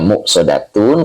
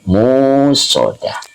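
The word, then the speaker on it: مؤصدة: Cuman di sini cara membacanya ada dua qiraat. Bil hamzi wa bil wawi badalahu. Nah, ada juga yang bacanya muqsodatun karena bil hamzi dengan hamzah. Ada juga wabil wawi badalahu, gantinya. Jadi bukan hamzah tetapi wawu, jadi panjang, musodah, begitu ya.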